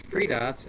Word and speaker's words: FreeDOS: Hello, I pronounce FreeDOS as FreeDOS.